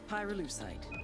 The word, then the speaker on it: pyrolucite: Pyrolucite, key syllable pyro, by the way, is the they mine in Via Verde Province to turn cocoa leaves into highquality cocaine.